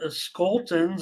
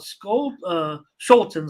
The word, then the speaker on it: Scholtens: the White Sox and Skoltens. I know a little bit about Scholtens, I should say, I think is how it's pronounced.